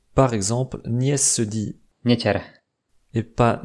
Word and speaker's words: neter: ou un I juste après, mais il se prononce quand même mou. Par exemple, Nies se dit Nieter et pas Neter.